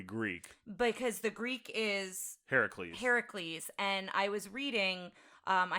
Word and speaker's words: Heracles: Heracles. And what they were worried about was that they would spell it that way, say it that way, and people would say, you're spelling it wrong.